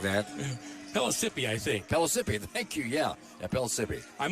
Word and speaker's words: Pellissippi: Is that how you pronounce it? Something like that. Pellissippi, I think. Pellissippi, thank you, yeah, Pellissippi.